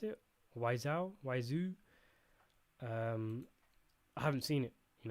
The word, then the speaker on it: Wiseau: How do you pronounce it? Wiseau.